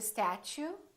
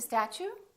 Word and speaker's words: statue: Can't you see the statue? Can't you see the statue? Did you get a college education? Did you get a college education? When the T is followed by a U, it becomes chew.